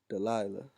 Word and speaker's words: Delilah: delilah okay feeble okay delilah da la delilah all right that's how you say it in the hebrew okay the philistine mistress